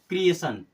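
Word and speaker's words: creation: तो हमेशा होगा कि अगर टी के बाद में आई ओ एन आ रहा है तो हर जगह पर आपको सन की तरह ही उच्चारण करना है अब एक वर्ड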